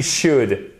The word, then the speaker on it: should: Regardez, you should. On ne prononce pas le L hein, ici, ok? Et là, c'est un ou court.